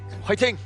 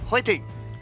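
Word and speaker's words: 화이팅: Which is like fighting. Like like fighting but with an H. Yeah. Yeah. Like fighting. It's kind of pronounced with a a H sound. I mean, instead of just saying fighting, yeah, it's fighting.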